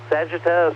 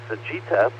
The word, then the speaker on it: Sagitta: Miss Carolyn's constellation of the week this week is Vulpecula, the little fox, as well as Sagitta or Sagitta, the arrow. I've heard it pronounced both ways.